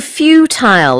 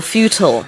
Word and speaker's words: futile: Okay, and also futile or futile. Yeah, futile or futile, I think both pronunciations are okay.